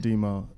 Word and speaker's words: DMO: It's DMO, but it's DMO, yep. How do you come up with that? It's pronounced Demo.